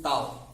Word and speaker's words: tau: तो हम simply टाउ लिखेंगे, टाउ, TAU pronunciation टाउ, okay.